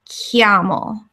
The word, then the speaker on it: chiamo: Italian, it's confusing because the CH is kind of like a K sound. So so this word here is pronounced like chiamo.